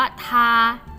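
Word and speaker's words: 她: รู้ แล้ว นะ ว่า คำ นี้ อ่าน ว่า ทา ทา ที่ แปล ว่า อะไร คะ อ่า เรา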